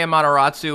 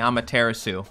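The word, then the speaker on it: Amaterasu: I'm a terasu wrong I used to say a matatu and people didn't like that so I started saying I'm a terasu I'm not changing my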